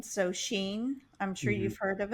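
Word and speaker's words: Shein: It's spelled sh H E I N. So, Sheen, I'm sure you've heard of it, but it's actually pronounced sheen.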